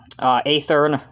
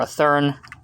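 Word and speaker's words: Athearn: This is one of the newer releases from Athern, or Athern, whichever way you want to pronounce it.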